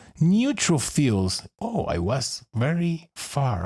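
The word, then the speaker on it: neutrophils: Neutrofils. Oh, I was very far away of the correct pronunciation.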